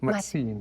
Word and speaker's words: Mazzini: Mazzini, es que como tiene doble Z, nunca he sabido cómo se pronuncia en italiano. Mazzini. Como pizza. Como pizza. Ahí está. Bueno, qué prosaico comentario, pero como la pizza.